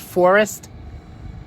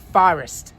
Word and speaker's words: Forest: Notice I don't pronounce it Forest. Run, Forest, run. I pronounce it Forest, like forehead.